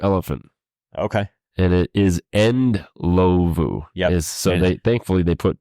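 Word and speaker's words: Indlovu: In Lovu? I'll go with that. Lovu. The D is probably silent.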